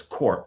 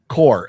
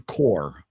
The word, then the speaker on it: Corps: Oh, but it says corp. The Green Lantern Corp. Core. It's like the Marine Corps.